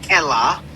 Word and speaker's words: Elah: name of God is Elah. They say it's not Allah, they pronounce it with the letter E.